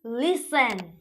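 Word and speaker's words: listen: silent हो रहा है एग्जांपल लिसेन लिस्टेड नहीं बोलते हम लोग ऐसा और भी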